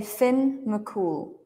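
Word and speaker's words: Fionn mac Cumhaill: is like a legend Finn mul and you can say Finn mul Finn mul the leader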